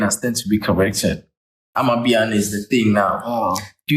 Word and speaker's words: Amapiano: But I think, as I said, Amapiano or Apapiano, what do you pronounce that? Amapiano.